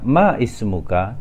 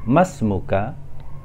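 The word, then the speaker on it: مَا اسْمُكَ: Di sini kita tidak membacanya ma ismuka, tetapi kita membacanya masmuka.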